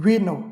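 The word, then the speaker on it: vino: 20वां letter है वी इसका उच्चारण होता है व जैसे उदाहरण में देखते हैं हम विनो विनो यानी शराब यहां पे उसका उच्चारण हो गया व विनो यानी शराब वीता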